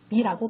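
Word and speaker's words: me: 이것을 단순한 파닉스 룰로 생각하면 매라고 발음을 해야 할 것 같지만 실제로는 미라고 발음을 하죠.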